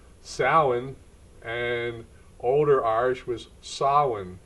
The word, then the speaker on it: Samhain: network and today I'm going to talk about s Wayne now my gelic pronunciation is horrible I've called it s way all my life but I've looked and researched and Modern Irish it's called sin and older Irish was sa so I've mispronounced